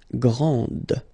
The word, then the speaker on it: grande: This final D is not pronounced. Okay, so grand, and then the feminine form, grande. Okay, so you put this E, and then you get the sound D, grande.